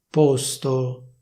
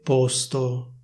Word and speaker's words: posto: Teoricamente bisognerebbe dire così, cioè posto con la O chiusa. Questa sarebbe la pronuncia ufficiale, quindi porre, posto. Però se vuoi sembrare più figo oppure più figa e parlare come si parla a Milano, puoi dire posto con la O aperta.